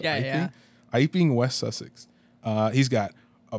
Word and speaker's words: Iping: Our story begins when a mysterious stranger arrives at an inn in Iping, West Sussex. I believe that's how that's pronounced. Yeah. Iping, West Sussex.